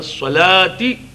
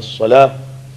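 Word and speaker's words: صلاة: It is actually Hayya ala salati, Hayya ala salah. There is te after salah. And the word salat ends with te. But since we stop there, therefore it is Hayya ala salah. There must be that sound of hey at the end of salah.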